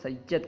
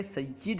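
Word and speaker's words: سیّد: علیہ وسلم کا ہے۔ لفظ سید کے بارے میں لوگ عام طور پر غلط تلفظ کرتے ہیں، سید کہتے ہیں۔ لفظ سید کو عام طور پر لوگ سید کہتے ہیں، بلکہ سید ہے، سید نہیں ہے، یا کے کسرہ کے ساتھ سید، ٹھیک ہے۔ سب سے بڑا رتبہ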